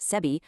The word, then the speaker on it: SEBI: They highlight how guidelines set by SEBI, that is the Securities and Exchange Board of India, pronounced SEBI, are allegedly being completely bypassed.